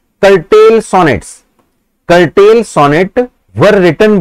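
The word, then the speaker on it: curtal: Sonnet was written by, ये इन्होंने कर्टेल कर रखा है, वैसे कर्टल है अगर हम देखें तो। हाँ जी ये कर्टल है, स्पेलिंग क्या इसकी बनेगी, सी यू आर टी ए एल, कर्टल, सी यू आर टी ए L, correct बच्चों।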